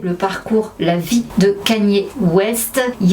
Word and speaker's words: Kanye: En attendant, Kanye West, prononçons bien Kanye, c'est pas Kenny comme à chaque fois je dis. Kanye. Oh, I'm from Ohio, we say Kenny. That's how we pronounce it. Well, I don't care where you're from, you pronounce my name Kanye.